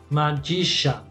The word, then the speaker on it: magician: Magician. Magician. No pronuncio la I esta.